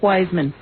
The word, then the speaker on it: Weissman: Weisman. Weissman. A Jew in York. No, I'm not. You're not a Jew? No, you're married to No, my name is actually pronounced Wiseman.